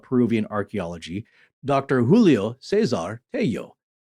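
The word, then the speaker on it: Tello: archeology Dr Julio Cesar hey yo and that's t-e-l-l-o so in in Spanish you would pronounce as y uh sound and he was an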